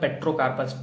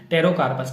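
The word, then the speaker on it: Pterocarpus: Composition chemical classes therapeutic uses of पेट्रोकार्पस, टेरोकार्पस, ठीक है, पी यहाँ पे साइलेंट है, टेरोकार्पस इसको कहते हैं।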